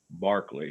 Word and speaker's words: Berkeley: a lot here barkley it looks like it says berkeley but it's pronounced barkley he was a bishop